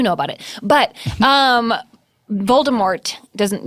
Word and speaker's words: Voldemort: about it but um Voldemort doesn't you don't pronounce the T apparently yeah what do you